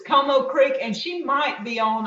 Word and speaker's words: Comeaux Creek: Comeaux Creek did the review on her cookbook. That's we'll repeat it for you. Comeaux Creek. And it's spelled COMEAUX or something, or similar. But it's Comeaux Creek, and she might be on.